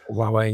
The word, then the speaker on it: Huawei: Huawei or how do you pronounce it? Huawei.